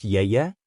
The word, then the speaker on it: Yaya: At least you have Yaya, pronounced Yeye, in class with you.